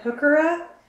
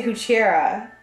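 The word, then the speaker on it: Heuchera: people pronounce plants because they said hooker up and we say Kuchera so that's interesting you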